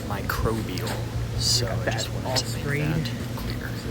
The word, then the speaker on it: microbial: also sprayed the um micro bile spray I think that's how you pronounce it that's actually not how you pronounce it it is microbial so just want clear